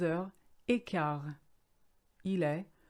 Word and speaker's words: quart: Now, if you look at the word quart, it's actually quarter, but with the French phonetic being the way it is, the QU is a K, quart, and you don't say the T, silent letter.